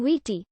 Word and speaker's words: Viti: and much in demand they called their home wheaty but the tongans called it fishy and it was by this foreign pronunciation fiji first promulgated by captain james cook that these islands are now known fiji the anglicized spelling of